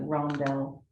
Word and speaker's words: rondelle: I think those are actually considered like rondelle, the shape of Oh, those okay.